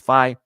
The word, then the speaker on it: Faye: I think someone told me it's pronounced Faye.